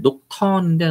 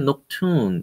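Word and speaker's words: Nocturnes: 사실 녹턴인데 녹튠 이렇게 발음을 하더라고요.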